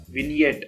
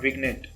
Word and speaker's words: vignette: This is pronounced as Vignette and not Vignette.